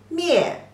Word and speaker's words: 灭: You pronounce as me, ye, mie, mie.